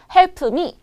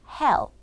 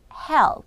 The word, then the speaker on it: help: 것 방금 발음한 것처럼 help me help me 하고 싶은데 네이티브는 절대로 그렇게 발음하지 않거든요 help help 이런 식으로 끝 을 세게 발음하지 않습니다 우리가에서의 발음 맨 마지막